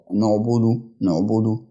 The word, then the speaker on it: نعبد: والباقي اللي بعد العين مضمومة، فبنتقل من تسكين حرف العين إلى ضمة حرف أو تضميم حرف الباء، فبيتنطق نعبد.